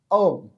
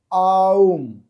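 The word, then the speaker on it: ওঁ: আর প্রথম কি আছে ওম আমরা এই এটাকে অনেক সময় মিস্টেক করি বা ভুল করি যে ওম বলি কিন্তু এটা হবে আউম নিচে দেওয়া রয়েছে আ যোগ উযোগ ম সমান সমান অর্থাৎ উচ্চারণটা নাভি থেকে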